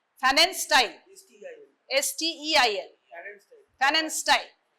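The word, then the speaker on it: Pfannenstiel: Fanen style. STEIL. Fanen style. Fanen style, P is silent.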